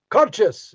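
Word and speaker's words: Càirdeas: how do you pronounce this whiskey and it's pronounced conscious exactly the way it's spelled right no cart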